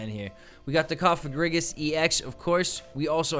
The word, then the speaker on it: Cofagrigus: I want to say Kafra, but it's Kafa. Cofagrigus, like sarcophagus.